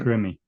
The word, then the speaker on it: Grimmie: and yeah, well, Christina, how do you pronounce that? Gimme? Grimmie.